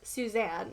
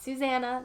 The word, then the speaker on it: Suzanne: And eventually my manager on the chat, he's like, by the way, like it's pronounced, she goes by Susie, but it's pronounced Suzanne, not Susanna, not Samantha.